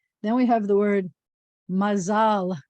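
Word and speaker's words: מזל: Then we have the word mazal. You may have heard the word mazel tov, which is a Yiddish pronunciation, or mazal tov, which means good luck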